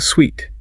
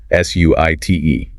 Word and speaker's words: suite: end, but it is phonetically pronounced exactly like the word sweet, as in sugar or candy.